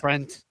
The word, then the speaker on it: Brent: Oh, I hate when people say Brett, but they can't pronounce Brett and they say Brent all the time. God, my name's Brent. Do you have sinus issues or is your name Brett?